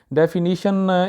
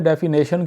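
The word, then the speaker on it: definition: और एक और वर्ड है जी डेफिनीशन, इसको पता नहीं वहाँ पे डेफिनेशन क्यों बोलते हैं लोग, इसके तो स्पेलिंग में भी सीधा सीधा नज़र आ रहा है कि ये गलत है। इसका सही तलफ़ुज़ है, सही प्रोनाउंसिएशन है डेफिनीशन, डेफिनीशन।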